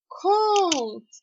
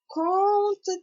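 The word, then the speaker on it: kąt: до до врешті випадків Воно читається як Он так наприклад в слові кут це буде count так count це є кут так трошечки зближу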